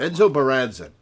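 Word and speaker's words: Menzoberranzan: Even the houses of Menzo Baranzin would have little use for Menzo Baranzin. That's how you pronounce it.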